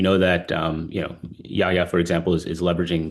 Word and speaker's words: Jaja: So Yaya, you said it right, not Jar.